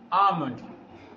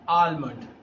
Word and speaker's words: almond: Yes, it is pronounced almond, not almond. L is a silent letter here.